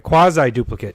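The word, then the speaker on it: Quasiduplicate: duplicate and that's one I said it right quasi duplicate I said quad like your core work out those quads I like God look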